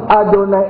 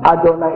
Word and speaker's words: Yahweh: Tulisannya Yahweh Elohim Yahweh Ehad. Dibacanya Adonai Elohim Adonai Ehad.